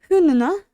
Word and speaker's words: hundene: Hundene. Hundene. Hundene. Don't really pronounce the D.